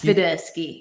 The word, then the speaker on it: Swiderski: Am I pronouncing it right? Yes. Swiderski, yes.